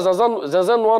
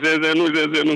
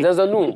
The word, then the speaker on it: Zinzanou: C'est toujours à Zinzanois, non? Je ne sais pas si je prononce bien. Non, Zinzanou. Zinzanou, voilà, autant pour moi, Zinzanou.